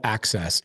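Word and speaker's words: AHCCCS: get the State of Arizona okay it's called access ah H CSS I believe is how you spell it let me just verify that for somebody's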